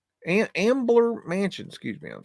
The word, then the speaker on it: Ambler Mansion: But as I was looking at that, this caught my eye, the Amber Mansion. Ambler Mansion, excuse me, I'm saying it wrong.